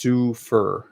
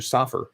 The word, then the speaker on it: Sufer: I don't mind the mispronunciation, but it's Sufer. Oh, Sufer as opposed to Soffer.